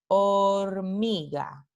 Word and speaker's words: hormiga: De nuevo aquí tenemos una letra que no representa ningún sonido, porque Esta palabra se pronuncia hormiga, hormiga. Entonces, aquí la H es una letra, pero no representa ningún fonema.